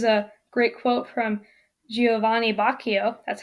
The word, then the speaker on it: Boccaccio: Here's a great quote from Giovanni Boccaccio. That's how you pronounce that.